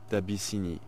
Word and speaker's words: d'Abyssinie: D'Abyssinie. D'Abyssinie is... I think you spell it A-B-A.